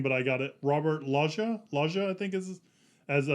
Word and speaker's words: Loggia: say his name but i got it robert laja laja i think is as dr bill raymond